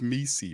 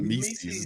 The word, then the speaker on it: Missi: It's one of them things where Mises rhyme with Reese's. Is that what's going on here? If that's what you like, that's what you into, bro. It's Yves Mises, bro, not Mises.